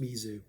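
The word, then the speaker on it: Mese: So M-E-S-E is usually pronounced Mizu.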